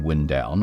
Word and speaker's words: Windown: with wind pronounced like the moving air and not like the action of winding string or thread around something is primarily brick ground